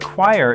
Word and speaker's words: choir: But choir is actually pronounced choir, like it starts with a K sound, not a CH sound.